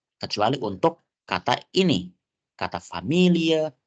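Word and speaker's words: Familie: biasa gitu ya oke famil itu bacanya familia nah kecuali kata ini teman-teman kita gak bisa baca dia Family karena Family itu English dalam bahasa Inggris agar bisa membedakan dia dalamah Jerman itu pelafalannya lebih sedikit cenderung ada e-nya di belakang familia familia dalam bahasa Jerman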